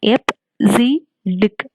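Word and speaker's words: EBCDIC: b c d i c hd it is pronounced as f z dick and it is an eight bit alpha numeric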